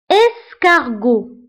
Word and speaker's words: escargot: Escargot. كارغو والحلزون هنا قرينا لا لتر اس نطقناها ونطقناها بلو سون س بوركوا لانه كاين قدامها